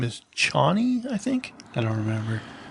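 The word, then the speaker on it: Chani: out her name is johnny i think i don't remember um c-h-a-n-i i'm not sure um i think it's pronounced johnny uh and she basically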